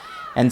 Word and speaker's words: Anj: uh Anj's life which apparently is pronounced an sort of a French pronunciation an oh an's uh time in in the Catholic pool, which apparently wasn't very good.